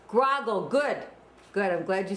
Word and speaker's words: Groggel: Um, well, we pronounce it groggle here. Grogle.